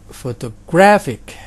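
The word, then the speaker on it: photographic: kedua Hai bagaimana dengan fotografik fotografik ini ada empat syllable juga tapi penekanannya pada si label yang ketiga dikit bingung ya Ah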